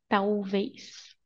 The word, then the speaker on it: talvez: This L sounds like U, okay? Tau. Tau. Ve. Is. Tau. Ve. Is. Talvez. Viajar. We don't pronounce the R.